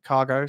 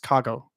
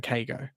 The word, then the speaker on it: Kago: you pronounced it wrong it's actually pronounced cargo rather than kago that's all I'm a